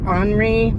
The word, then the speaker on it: ANRI: They're Henri. I think that's how you say it. It's ANRI.